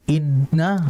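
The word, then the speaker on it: إِنَّ: Ya, makanya kalau kita baca inna udah langsung mampet di sini karena di situ memang posisinya. Maka ditahan. Inna, ditahan. Jangan terlalu cepat. Innal insana lafi, jangan. Ditahan dulu. Innal, nah itu ya.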